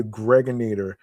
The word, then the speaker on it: Gregonator: I'm your man, aka the Gregonator. Rhymes with now or later.